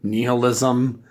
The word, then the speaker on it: nihilism: this whole concept of nihilism niall ism I'm gonna stick with the first pronunciation even though the second one is the proper pronunciation because it's a bit pretentious but yeah definitely he